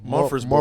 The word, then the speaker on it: Murfreesboro: Murfreesboro. Murfreesboro.